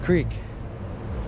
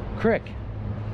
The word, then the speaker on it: creek: Creek. Crick. I think I'm thinking of saying it wrong.